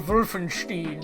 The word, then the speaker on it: Wolfenstein: is Castle Vulfenstein. The Americans do not pronounce it correctly.